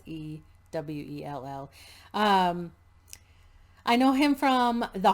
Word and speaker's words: Sewell: Yeah, it's Sewell.